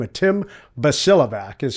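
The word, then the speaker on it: Bosiljevac: author by the name of TL, I couldn't pronounce his name at all. Basel Javik is what I called him for years and that was the very first SEAL book I ever bought.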